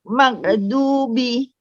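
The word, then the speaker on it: مغضوب: Oke, ghairnya ditahan Bu sambil dialirkan suaranya. Terus tebalkan lagi suara Magdubi.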